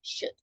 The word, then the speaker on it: should: just to tell you remember L is silent you write it but don't pronounce it so it's just shoot okay changing for the